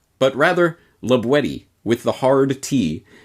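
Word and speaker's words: La Boétie: as might be thought la boyce but rather labuetti with the hard tea as it was pronounced in the perigord dialect of the region in which libwedi lived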